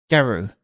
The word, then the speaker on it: Gyaru: Gyaru.